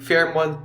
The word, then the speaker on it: Fairmont: Sorry guys, mali ako ng pronunciation. Fairmont pala. Farmont ako ng Farmont kanina. Fairmont pala talaga yyung right pronunciation.